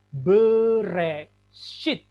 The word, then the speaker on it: Bereshit: Maka ini membacanya Bereshit.